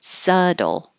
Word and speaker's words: subtle: changes to a d subtle and hustle we don't use the T at all you're going from the s to the L Hustle which is similar